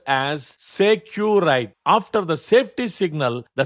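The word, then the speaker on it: sécurité: In voice communication, the signal word is securite, pronounced as securite.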